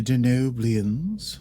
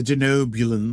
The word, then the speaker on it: Denobulans: And it was cool to mention the Denoblians once again. Nope. Nope. Did I say it wrong? I said Blian, didn't I? The Denobulans.